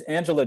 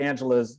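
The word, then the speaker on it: Anjelah: is is of a comedian her name is angela johnson and her angela is spelled a-n-j-e-l-a-h johnson a-n-j-e-l-a-h which i love the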